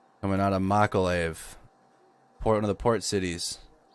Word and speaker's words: Mykolaiv: Mykolaiv. Coming out of Mykolaiv, one of the port cities.